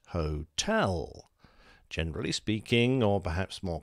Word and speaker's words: Hotel: was the word chosen its spelling pronunciation and syllable emphasis was defined for example hotel isn't hotel it's hotel generally speaking or perhaps more correctly phonetically speaking